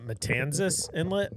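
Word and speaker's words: Matanzas Inlet: Um, uh, Matanzis Inlet.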